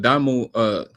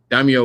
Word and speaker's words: Daimyo: At this point, if the Daimo, I keep on saying his name wrong. Daimyo would have just listened to Shikamaru, then the outcome would have been totally different.